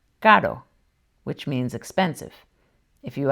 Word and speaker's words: caro: It's pronounced this way when it's single and between vowels, like in caro, which means expensive.